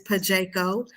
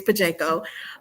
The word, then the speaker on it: Pajeco: Well, so like Smoke said, my business name is Pajeco. Um, a lot of you guys are pronouncing it correctly. I see you stumble over, but it is Pajeco.